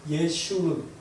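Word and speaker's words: ישורון: 네, 여술은은 히브리어로 그러니까 정확하게 읽으면요, 예슈른, 예슈른이라는 단어입니다. 제가 좀 발음이 좀 좋았나요?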